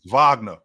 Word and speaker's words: Wagner: and for Germany France Wagner or Vagner he led the chase with say my name right Ron get my name right it's not wack Vagner fron Vagner he had 18 points